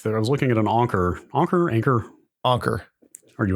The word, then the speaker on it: Anker: I saw like I was looking at an anchor anchor anchor anchor are you an Anker that's my understanding is that's how they pronounce it okay uh I saw an ad